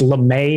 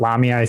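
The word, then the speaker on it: Lamae: And and on the pronunciation thing, it's Lame not Lamia. I think I said Lamia, which is actually like the the snake people.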